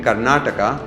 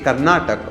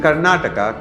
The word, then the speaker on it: Karnataka: defend it claiming that it is acceptable to say karnatak or Canad but do they use